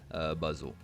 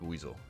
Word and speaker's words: Buizel: They can all be shiny except for Buzzle. But for Oddish, it'll be Double Catch Stardust, and actually, I believe that's pronounced Buizel. I think I just mispronounced that. Buizel should be the correct pronunciation.